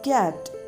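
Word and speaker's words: kat: C-A-T, cat. In Danish, cat is cat. What? Cat. Repeat it. Cat. So, in Danish, cat is pronounced as cat.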